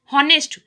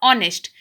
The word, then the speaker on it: honest: आप इसको पढ़ते तो ऑनेस्ट हो, लेकिन देखिए आपने इसको लिखा है HONEST, हॉनेस्ट, लेकिन आप इसको प्रोनाउंस कैसे करते हो? ऑनेस्ट.